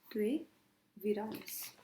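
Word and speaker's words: Treviranus: पहले आ जाएंगे आपके लेमार्क और दूसरे आ जाएंगे आपके ट्रे विरेनस। बट आपने इसको कैसे प्रोनाउंस करना है? ट्रे विरानस, वीरा प्रोनाउंस करना है।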